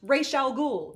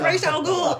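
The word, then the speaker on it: Ra's al Ghul: woman and also that they mispronounced rae chalgool ghoul it is racial ghoul it's not ross it's race and two different actresses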